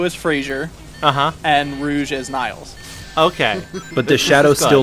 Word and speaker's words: Niles: is where it's at why are you guys pronouncing it wrong it's Niles Nile's crane that is right and I believe